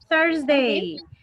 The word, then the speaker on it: Thursday: Only, Isabel, Thursday. Thursday. Thursday. Es como una O-U.